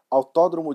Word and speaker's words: Autódromo: I'm Brazilian, so this track is in Brazil, so we usually pronounce that as Autódromo de Interlagos. That's the native way to pronounce the track's name.